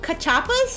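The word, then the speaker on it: cachapas: Uh, it pronounced Kachapas.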